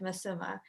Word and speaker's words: Masuma: west um but in the west it said masuma so either spy masuma that's okay okay cool